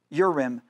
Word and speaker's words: Urim: Urim.